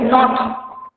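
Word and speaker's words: knot: তারপর দেখ নট, এটাকে যেমন নো বলি না, কে নো ডব্লিউ জানা, এখানেও কিন্তু কে এর উচ্চারণ অতটা হবে না, নট নয়, নটেড, ঠিক আছে?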